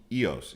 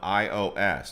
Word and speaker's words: Ios: have santorini but i recommend this one called eos you just spell it ios like your phone ios ios that's the island i